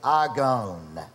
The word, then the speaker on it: agon: the word argon a-g-long-o-n you might transliterate it argon now what does that sound like what word in english does that sound like yep that sounds like the word agony and that's a good